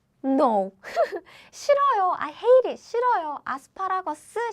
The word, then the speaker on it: 싫어요: So what happens is, it sounds like 싫어, 요. 싫어요, 싫어요. 싫어요 is how we pronounce.